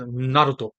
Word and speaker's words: Naruto: Naruto, Thank you. Just keep going. right? But the Japanese pronunciation is Naruto, Naruto.